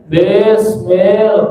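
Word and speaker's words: بسم الله: A I bunyinya I, jangan E. Jangan Bismillahirrahmanirrahim. Kan dari kecil gitu ya. Bismillah, bukan bes, di, bis, ya, di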